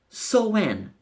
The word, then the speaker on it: Samhain: Now, Halloween is an ancient Celtic festival called Samhain. It's pronounced S-O-W-N, and it is from